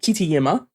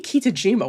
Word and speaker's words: Kitajima: passed to Hiroaki Kitayama, who that should be Kitajima. Why did I gave it the Czech Y? Oh. Goes to Czech for 1 week, starts pronouncing things like they're I'm Czech so and used not to pronouncing glorious J's as Ys.